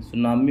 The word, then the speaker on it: tsunami: सुनामी में ये T silent है।